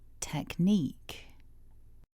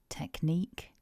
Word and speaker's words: technique: First of all, in syllable 1, although we write the word with a CH, it's not a ch, it's a k. Technique. And in syllable 2, even though we write the QUE, again it's another k sound. So don't be put off by the spelling. Remember, we've got two K sounds in this word.